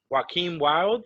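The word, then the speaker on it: Joaquin Wilde: I thought they came out and they looked badass, especially Joaquin Wild. Is that how you pronounce it?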